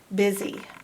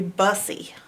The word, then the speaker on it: busy: Now, if you said that phonetically, it would be bussy, but it's not bussy. It's pronounced busy, busy.